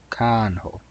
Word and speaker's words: kanho: A in can is pronounced like A in cargo. Cargo. Kanho.